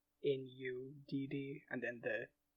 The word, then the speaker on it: Nudd: So like in "Gwyn ap Nudd," his patronymic is spelled N-U-D-D, and then the, the double "d" is pronounced like "the."